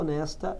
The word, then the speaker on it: honest: an honor, uma pessoa honesta, an honest person. As palavras hour, heir, honor e honest são as únicas 4 palavras no inglês que o H é mudo.